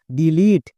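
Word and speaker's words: delete: টি এর জন্য টো শেষের ই সাইলেন্ট একসঙ্গে উচ্চারণ করো ডিলিট তাহলে আমরা ডিলিট বলছিলাম তার মানে ভুল উচ্চারণ করছিলাম এই ওয়ার্ডটির সঠিক উচ্চারণ হবে ডিলিট আজকের পর থেকে কেউ আর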